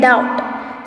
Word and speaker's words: doubt: Then doubt. So DOUBT. B is silent over here.